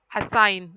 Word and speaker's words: assign: have silent letters like here g is silent not so assign a s s i